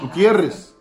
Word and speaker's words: Gutierrez: Gutierrez.